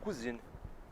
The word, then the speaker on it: cousine: E prima é cousine.